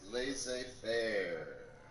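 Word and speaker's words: laissez-faire: go for it it's lazy bear they say fair good job and and you pronounced it correctly right here guys laissez faire that's number three they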